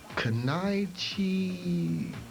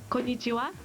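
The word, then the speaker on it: こんにちは: Kanaichi something. It's pronounced konnichiwa.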